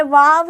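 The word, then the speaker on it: واؤ: गुना में अंतर ये वाव है इसका उच्चारण हा और नून न का उच्चारण है वाव वाव का उच्चारण व होता है व वाव पढ़ा जाता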